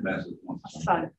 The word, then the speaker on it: Massasauga: How do you pronounce that? Sisterus? No. Or the Massasauga? Massasauga, yeah.